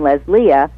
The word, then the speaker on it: Lesléa: with a unique name Les Leah and nobody was saying it that way so I put the accent on the E and it's an accent of stress got it gotcha okay